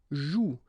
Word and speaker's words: joue: And it's exactly the same rule, so you've got this after, but then clearly you don't pronounce it, okay? Elle joue.